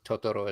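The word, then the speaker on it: Totoro: thought to too too if it's Japanese there's no Accent on any of the syllables so tooro is correct okay the Americans say tooro because we have accent everywhere we have to say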